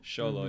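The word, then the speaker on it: Xolo: I think the chemistry between um how you pronounce his first name sholo sholo yeah sholo and Bruno was off the chain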